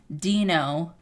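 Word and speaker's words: Deino: Marcus says pronounced Dino, right? Mm-hmm. Dino.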